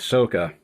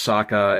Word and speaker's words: Sokka: And yes, I know it's Sokka, and I know I've been saying Sokka, but it's spelled Sokka, and that messes with me, but I'm aware that his name is actually Sokka.